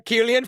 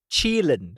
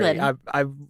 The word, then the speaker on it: Qilin: Well, do you see a Killian kicking my ass? Qilin. Sorry, how do you say it? Qilin. Chilin. Yep, Sorry, Chilin.